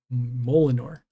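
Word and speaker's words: Mjolnir: attack boost does occur the j is silent so it's molinar it mo molnir mel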